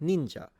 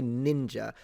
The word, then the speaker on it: ninja: But ninja is high to low and it's a e sound, not a ninja. If you say ninja, you're saying it with an English accent or an American accent.